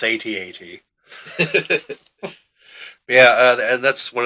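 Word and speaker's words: AT-AT: heard it here the people have spoken it's atat yeah uh and that's one other thing uh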